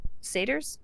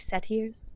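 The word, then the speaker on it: Satyrs: released leonan and set seders um i always want to pronounce them like set ears but it's seder uh so oh my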